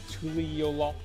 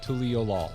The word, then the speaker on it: Tuliyollal: You have Aetherites in Tuliyollal. You got it? Yeah. I put the emphasis on the final syllable. I go with Tuliyollal.